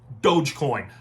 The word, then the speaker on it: Dogecoin: can't even figure out the right way to pronounce dogecoin there's no a in there if you can't pronounce dogecoin